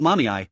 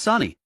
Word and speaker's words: Sani: "It's not mommy, it's Sani. How can you get both syllables wrong when there are only 2?